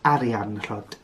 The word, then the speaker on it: Arianrhod: This, of course, is the older spelling of Arianrhod. Arianrhod. But I tend to stick to the way that her name is spelt in the actual manuscripts. So that's Aranrhod. Aranrhod. But if you prefer to say her name as Arianrhod, then it's Arianrhod.